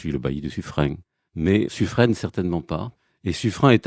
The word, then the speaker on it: Suffren: Mais revenons à sufrain et tout d'abord à la prononciation puisque ce n'est pas sufraîne comme le disent beaucoup de Parisiens.